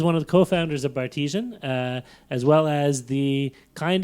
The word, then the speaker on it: Bartesian: It's like Of course. artesian or Cartesian, but yeah. with a B in the front. Gotcha. Bartesian.